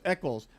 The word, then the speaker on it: Eccles: Eccles? Eccles, like in Robert Eccles.